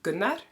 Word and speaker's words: Gunnar: And his name is Gunnar. But at the time, this soft rolling of the R and whatever, it just